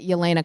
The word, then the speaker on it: Yelena: There's a Yolena in um and this is how people have finally figured out how to say my name is because there's a Yolena in the Marvel Cinematic Universe.